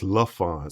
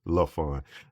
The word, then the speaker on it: Layforn: So it's Lafon. So if you think about it, take that Y and the R out. It's L fun.